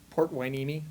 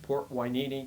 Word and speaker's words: Port Hueneme: Port Hueneme. Port Hueneme, California.